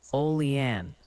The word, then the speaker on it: Olean: Oh, and the pronunciation committee has submitted an update. The consensus on Olean is Olean.